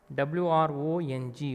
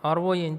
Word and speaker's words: wrong: WRONG, wrong. But W silent here. RONG we pronounce.